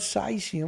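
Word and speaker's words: caesium: yet dispersal of the radionuclide cysium which is how the british like to pronounce it from point sources in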